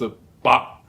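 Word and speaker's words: 百: It's pronounced in Cantonese as a ba. In order to pronounce this word, you have to open your mouth and be ready to pronounce the consonant k, but you do not actually pronounce it. So like a ba.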